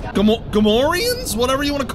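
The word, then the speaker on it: Gamorrean: Are those Gamoranians? You're saying it wrong. Gamorians?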